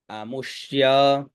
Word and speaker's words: अमुष्य: अमुष्य अ मु आधा श और ये तो अमुष्य